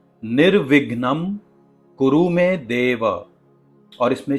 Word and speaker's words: निर्विघ्नम: इसमें वी का जो साउंड है वो थोड़ा सा सॉफ्ट है और यह इंग्लिश के डबल जैसा बिल्कुल भी नहीं है। इसमें थोड़ा सा अनुस्वारा यानी नेजल साउंड भी आता है। इसलिए आपको बड़े ही ध्यान से म का जो उच्चारण है वो हल्का सा नेजल करना है। निर विघ्नम।